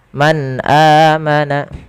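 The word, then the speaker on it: من آمن: Billahi Wal Yaumil akhir Man amana ada bacaan izhar pada lafal nun sukun bertemu dengan huruf hamzah cara membacanya nunnya dijelaskan dengan jelas Suara nunnya Man amana tidak boleh ditahan Man amana tidak tapi dia Jelaskan saja Kemudian padafal amana ada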